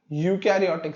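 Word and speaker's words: eukaryote: इसके बाद यूकैरियोटिक cell में most यूकैरियोटिक cell are multicellular. जैसे इसमें यूकैरियोट में EU आता है स्पेलिंग में, बट हम इसे क्या कहते हैं, यूकैरियोट, तो इसमें E साइलेंट होता है।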